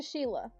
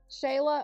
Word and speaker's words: Shayla: It's actually Shayla. If you missed it, she's no She said she's no longer replying to Sheila. Wait, am I saying it right? Shayla.